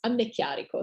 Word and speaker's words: Anneecchiarico: audience today and my uh last name is pronounced amne chiariko so that's clear would you like me to